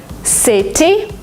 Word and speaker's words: city: in the middle of a word, sometimes you pronounce it as D. Letter, letter. Letter? Because it's faster, because it's smoother. City, you don't say it.